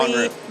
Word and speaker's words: Bonrue: Bonrue, yep.